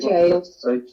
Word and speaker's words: gaol: Jail. Jail. But it's spelt the old-fashioned way. Gaol.